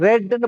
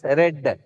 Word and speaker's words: read: This is ரெட். Past participle READ, the same READ. Spelling is the same. இதை நீங்க எப்படி pronounce பண்ணணும் அப்படின்னு பார்த்தீங்கன்னா ரெட், ரீட், ரெட், ரெட். இதை வந்து ரீட், இது வந்து ரெட், இதுவும் ரெட். சார் ரெட்னா RED தான் சார்,